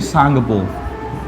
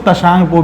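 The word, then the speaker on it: त्सांगपो: लेकिन याद रखना, अरुणाचल प्रदेश में इसको दिहांग बोलते हैं, लेकिन यहां पर इसको बोलते हैं सांगपो। सांगपो, इसको तशांगपो भी कहते हैं। टी साइलेंट है, सांगपो या तसांगपो, ये शाम्पो भी कह देते हैं भाई, ठीक है।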